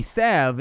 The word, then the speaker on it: salve: they said sav and apparently sav is a perfectly acceptable pronunciation of the word that kind of